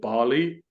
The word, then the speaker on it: Ballie: one to me um I pronounce it Bali because it should be named Bal e um and they dropped